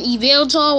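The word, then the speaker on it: Yveltal: and then there's an available which starts with a why the why is silent and xerneas and then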